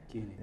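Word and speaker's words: Kuehne: Porque normalmente teria a trema, mas não tem a trema, mas mesmo assim o alemão pronuncia Kine.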